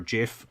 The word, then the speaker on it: gif: name wrong but I found his his his gif or Jif whichever way you pronounce it and on a webpage and then